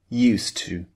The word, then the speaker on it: used to: Because we have a D at the end of used and a T at the beginning of to, these two sounds merge together in English.